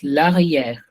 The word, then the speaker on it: l'arrière: You have to say this as a. So you will pronounce this as l'arrière. Okay, Aishwarya?